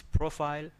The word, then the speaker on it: profile: It's profile. Why profile? Because the stress is on P.